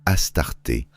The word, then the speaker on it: Astarté: C'est pourquoi, dans la tradition russe, ce nom est prononcé Astarté, la prononciation grecque, sans distorsion intentionnelle.